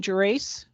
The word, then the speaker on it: Gerace: board here uh how do you say your last name jerace your race you got it dead on okay uh so this